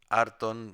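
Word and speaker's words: ἄρτον: Arton sería un ejemplo de la penúltima, sobre todo porque tiene dos sílabas.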